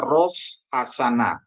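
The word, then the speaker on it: ראש השנה: Jadi bacanya hasana. Jadi artinya jadi baca seluruhnya adalah Ros Hasana ya, tahun baru ya.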